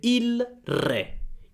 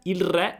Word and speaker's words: il re: la R subito, quindi la L di il diventa R, quindi il diventa ir, per esempio, prendiamo re, se parlo lentamente il re. Il re, ma più veloce, il re.